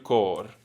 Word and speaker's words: cor: senza di te Senza di te languisce il cor. languisce il cor. Il cor. Il cor. Il Cor. cor. Yeah. So if there's an R at the end of a word, you roll it.